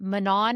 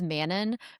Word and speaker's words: Manon: And so, we warned Lena that Manan is not Manan. She is Manon forever. We don't care that SJM says has them say manan. No, we refuse. It's manon.